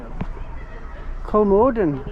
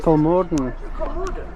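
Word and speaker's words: Kolmården: Kolmarden. We've been saying it wrong. We've been saying Kolmarden. It's Kolmarden. Kolmarden.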